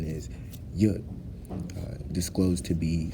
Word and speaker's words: Yud: We commonly associate Yud to be an apostrophe, a comma, part of a semicolon, and in hindsight, what the actual pronunciation is, Yud, disclosed to be said from Jews as the power of God only, in the Hebrew lettering system.